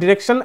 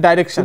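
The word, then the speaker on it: direction: ডিরেকশন এন্ড ডাইরেকশন। তো আমরা উচ্চারণ করব ডিরেকশন। যেহেতু আমরা নরমালি ব্রিটিশ ইংলিশ ব্যবহার করে থাকি।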